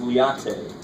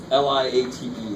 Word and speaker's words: LIATE: There's something called, it sounds like a Starbucks drink. It's called, it looks like it's pronounced Liate. Liate.